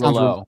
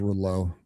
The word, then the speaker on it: Rouleau: Sounds like a French name. right. It's Rouleau. Rouleau sounds so hockey player. All right, you're right. It is it is Rouleau.